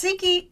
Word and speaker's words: Tsikki: It's it's Tiki Tiki, but we're going to call you because we want to make sure that we don't get your name wrong.